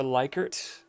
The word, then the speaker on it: Likert: It's using a scale called the Likert scale or Likert. I've heard it pronounced both ways.